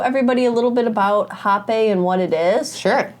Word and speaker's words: rapé: It does have the E with the line on the top, but for the purposes, it is pronounced hapeh, and it is spelled R-A-P-E.